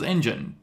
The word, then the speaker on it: Engen: It's Engine Books, but people call it, because I didn't spell it like a car engine, it's ENGEN, people will just call it any number of things.